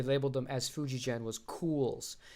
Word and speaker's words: Coolz: One of the earlier house brands Fujigen used before they labeled them as Fujigen was Cools. It's a lot more subtle of a headstock. It's spelled Coolz.